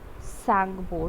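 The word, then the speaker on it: Tsangpo: तिब्बत से ओरिजिनेट होती है, तिब्बत से कहाँ पे ओरिजिनेट होती है, तिब्बत के सैंगपो, टी साइलेंट होता है, ठीक है।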